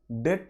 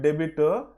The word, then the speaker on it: debt: DEBT, డెట్ అనాలి, నాట్ డెబిట్. సో be silent, డెట్.